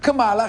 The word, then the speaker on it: Kamala: que mora nos Estados Unidos vou falar a pronúncia certa para vocês na boa hein Cala cala repeat with meala kamala Harris e Donald trump chegam Tecnicamente empatados na